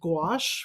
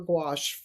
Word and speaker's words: gouache: easiest for me is I'm a great proponent of gouache, which um, artists will recognize the word. It's a French word spelled Gouache, Gouache, and it's pronounced like a G apostrophe WASH, gouache.